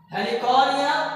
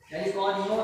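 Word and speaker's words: Heliconia: Okay, example हेलिकॉनिया। Okay, थोड़ी सी spelling mistake, इसको सही कर दिया जाए, हेलिकॉनियो नहीं है, ये हेलिकॉनिया होता है।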